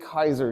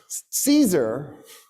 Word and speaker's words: Caesar: The reason that battle took place is because of what a guy named Gas Julius Kaiser did. You guys incorrectly call him Julius Caes Caesar.